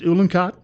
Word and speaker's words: Uhlenkott: is the last name pronounced Uhlenkott? Yes, it is.